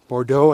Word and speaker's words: Bourgeau: Bourgeau, I think is how you pronounce it.